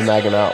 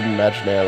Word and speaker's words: Maginot: Some people call it the Magnair line, or the Maginot line, because that's how it's spelled. But it is pronounced the Magnair line.